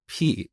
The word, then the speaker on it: pi: concept of constants but I pronounce this word as P instead of Pi and believe it or not to this day people make fun of me for saying P instead of Pi but that's how we learned this back in Iran we pronounce it as P and I think Greek people also say P but anyway I just